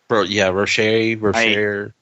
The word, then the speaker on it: Rocher: How do you say it? Rocher? Rocher. I Ferrero really Rocher. If we say it's Ferrero Rocher, so that'll get us two candy companies because they merged at one point.